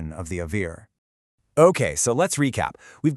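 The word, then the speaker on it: אויר: of the Avir.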